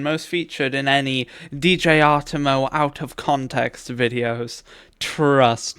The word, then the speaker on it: Artemo: Since DJ Artemo pronounced DJ Artemo and not DJ Artemus, illiterate classmates of my